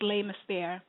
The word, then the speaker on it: Les Mystères: Is it Les Mystères, like the mystery? It's Les Mystères.